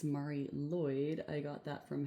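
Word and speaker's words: Mari Lwyd: this is said as Marie Lloyd Mar Lloyd therefore in English it is usually said as Marie Lloyd okay I will put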